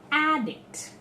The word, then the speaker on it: addict: very simple rule that the first syllable will be stressed and we tell he is an addict so if that is